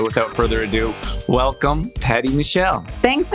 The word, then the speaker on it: Mechael: It's Mechael in Arabic. And when my dad immigrated to America, he spelled it Mechael and then decided to pronounce it Mechael to make it easier for people to say.